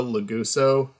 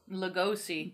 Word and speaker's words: Lugosi: with uh how do you how do you pronounce that last name Bella laguso Lugosi Lugosi um like that was a pretty cool